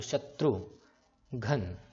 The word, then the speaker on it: शत्रुघ्न: तो न, शत्रु घना, ये नहीं आ रहा, इसलिए हम न में जो ये न है ना, न में ए नहीं लगाएंगे क्योंकि अ का उच्चारण नहीं दे रहा यहाँ पे। तो शत्रुघ्न इतना ही आवाज आ रही है, इसलिए हम लोग, और